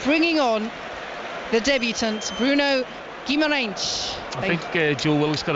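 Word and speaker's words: Guimarães: That is how you say it in the Brazilian Portuguese. Yeah. He might develop into Guimaraes because many people tend to anglicise Portuguese players here.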